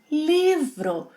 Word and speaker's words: livro: Livro with a r sound. Yeah, it's not livro, livro. The sound we have here is similar to the American English reduction of T in words like Betty, ri, ri, livro, livro.